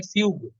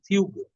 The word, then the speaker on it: fugue: और जब प्रभाव तैयार करते हैं उसको हमारे यहाँ फिल्म म्यूजिक में कहते हैं फ्यूग, FUGUE, फ्यूग। जैसे आर्ग्यू होता है ना, स्पेलिंग उस तरह का।